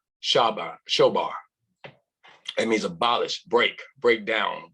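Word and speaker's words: שָׁבַר: Then I'd like to give according to the Hebrew, Strong 7665, broken, pronounced shobar.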